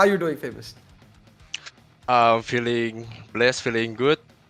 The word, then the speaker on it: Famouz: want to ask is am I saying your name right is it famous or is it like a different pronunciation it's famous it's famous so yeah so where